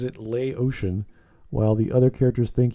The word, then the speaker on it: Laotian: louisian whereas yeah that was funny whereas he pronounces it lay ocean while the other characters think he's japanese yeah